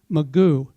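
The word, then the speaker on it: McGough: asked for help is as it's spelled MCG ough Magoo I went to Houghton College Hou gh T au n so to me it's ho tons so that's why I'm not sure so it's Magoo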